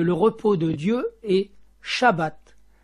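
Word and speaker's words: שבת: repos de Dieu est shabbat dans lequel le baai central se prononce V il est de la même racine que le chiffre 7 ainsi le Chabbat prononcé Shabat sera plus tard présenté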